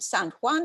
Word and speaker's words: San Juan: Sanjuan, the Spanish word San Juan, like in Puerto Rico, right? We pronounce it San Juan as if it's a French word, which is weird.